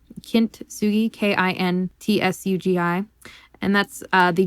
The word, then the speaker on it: kintsugi: of is uh and i'm probably going to mispronounce this so i do apologize but it's called uh kintsugi kintsugi k-i-n-t-s-u-g-i and that's uh the japanese art form